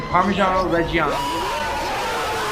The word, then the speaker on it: Parmigiano Reggiano: Right here is a Parmigiano Reggiano.